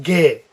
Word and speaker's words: Ge: worry about that one this one's pronounced gay get okay so we have